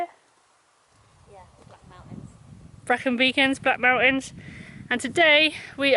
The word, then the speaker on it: Brecon Beacons: here we are currently in wales in the brecon beacons is that how you say it yeah black mountains broken beacons black mountains and today we are going to